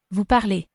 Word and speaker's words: parlez: Vous parlez. Hopefully you could hear that EZ is pronounced A.